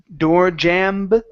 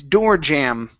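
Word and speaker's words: doorjamb: The B at the end is silent. So instead of door jam, okay, it's door jam. Door jam.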